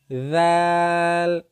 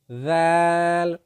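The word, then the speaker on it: ذال: এই জাল কিভাবে উচ্চারিত হয়? জিহ্বার যেই আগাটা, এটা সামনের ওপরের দুই দাঁতের আগার সঙ্গে লাগিয়ে দিবেন। জিহ্বার আগা সামনের ওপরের দুই দাঁতের আগার সঙ্গে লাগিয়ে দিয়ে উচ্চারণ করবেন জাল।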